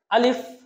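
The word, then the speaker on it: ألف: চলুন আমরা শুরু করি আলিফ আলিফ হরফে কোন টান হবে না আলিফ হরফটা কোন টান হবে না দ্রুত উচ্চারণ করতে হবে কুইক সাউন্ড হবে আলিফ বলুন আমার সাথে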